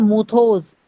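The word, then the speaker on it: μῦθος: Word है हमारा myth, जिसका मतलब होता है मूथोस, MUTHOS, मूथोस। क्या स्पेलिंग लिखे हैं?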